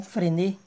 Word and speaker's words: Frenet: E esse triedo tem um nome especial, que é o triedo de Frenet, ou Frenet, né? Pronúncia em francês.